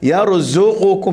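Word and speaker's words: يرزقكم: Itu zal. Ini zai. Yarzuqukum dengan zaik. Tadi dengan dizak, betul tak? Kalau zal dengan dizak kah ejaan dia? Betul Dizak yang ni zak sahaja. Yarzuqukum, cuba. Yarzuqukum. Okey, pastikan di sini ra tu mati, jangan melantun. Kul kita baca yarzuqukum, ada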